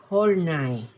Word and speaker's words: Horney: Se pronuncia Horney, no se pronuncia como si fuera en inglés.